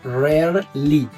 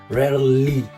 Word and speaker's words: rarely: Entonces es rarly. Apóyense mucho en esta l, en esta L aquí. Rarly, sí, esa los va a ayudar mucho. Rarly.